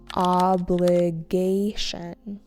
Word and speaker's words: obligation: Obligation. Obligation with an emphasis on the third syllable.